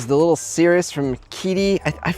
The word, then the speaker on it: Qidi: is the little Cirrus from Kitty. I I read online how to say this. It's not a Q. It's not quitty.